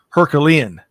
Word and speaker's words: Herculean: And as I'm getting a text here, it is Herculean. I was told I added an extra syllable or two.